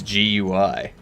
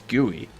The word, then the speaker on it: GUI: People are telling me that it's not gooey, it's GUI. Like, no, it's gooey.